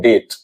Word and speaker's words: debt: इसी ढंग से DEBT, इसे हम पढ़ते हैं डेट, इसे हम लोग पढ़ते हैं डेट। तो इसमें बी कहाँ गया?